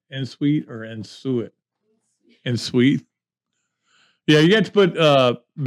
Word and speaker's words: en-suite: En-suite or en-suite?